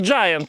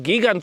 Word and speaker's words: Giant: Why do we even say “Jitown”? Because Giant is Giant. It’s a giant.